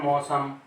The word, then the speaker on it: मौसम: तो औ की मात्रा लग रही है, औ की मात्रा, और उच्चारण करते हैं हम ओ वाला। जैसे ओ का उच्चारण करके बोलते हैं मौसम, बोलते तो हम ये